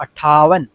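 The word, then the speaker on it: अट्ठावन: എന്ന് പറഞ്ഞാൽ കൂട്ടണം ഓക്കേ ഈ രണ്ടുവട്ടം ട വരുന്നുണ്ട് അപ്പൊ അട്ട ഠ എന്ന് പറഞ്ഞു അട്ട ഒറ്റയടിക്ക് ഒന്നല്ല രണ്ടുവട്ടം റിപ്പീറ്റ് ചെയ്യണം അതായത് രണ്ട് ലെറ്റർ ഒന്നിച്ച് ഒന്ന് ഒരു ഉച്ചാരണമാണ് അപ്പൊ നമ്മൾ കട്ടികൂട്ടി വായിക്കേണ്ടത് അട്ടാവൻ അതിനുശേഷം ഉൻസട്ട് സാട്ട് ഇനി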